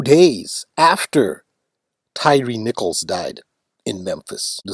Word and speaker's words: Tyre: Tyre, that is Tyre, pronounced by Americans Tyree, as in Tyree Nichols, who was beaten in Memphis by the Memphis Police Department and died 3 days later.